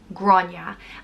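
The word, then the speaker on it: Gráinne: are so um everyone's right next up is grana which is a very well-known old irish historical name it's pronounced gro yeah grana and it's traditionally spelled g-r-a-thota i-n-n-e and the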